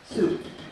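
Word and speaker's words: Sault: I was like, it's spelled like salt with a U in there, so I just don't think Yeah. it would, if it was pronounced salt, it would just be S-A-L-T. But it's soup.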